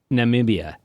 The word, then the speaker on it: Namibia: How do you pronounce it? Namibia.